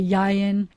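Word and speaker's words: יין: if i wanted to say wine i say yayan and an olive is a zayat and they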